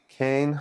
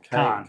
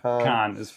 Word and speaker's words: Caen: Cane? No, it's Caen. Caen. But that's a very British pronunciation. I don't think the French call it that.